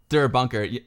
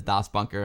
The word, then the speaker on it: Das Bunker: Der Bunker, Retrocram, it's Das Bunker. The real pronunciation, the proper pronunciation is Das Bunker.